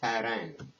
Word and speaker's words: Paran: from mount of paran it's pronounced faran now where is mount